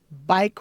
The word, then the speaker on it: bike: Bike rack. Bike rack. Be careful how you say bike. Bike. Because if you don't pronounce the long I correctly, it could sound to someone like bake.